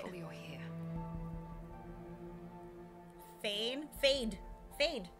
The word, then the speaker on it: Fade: Fade, right? Fade, F-A-D-E, like fade to black. Ralpha. Or is it F-A-I-D? Well, pronounced like a fade.